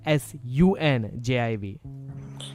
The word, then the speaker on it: Sanjiv: My name is Sanjiv, right? But it's actually pronounced as Sunjiv.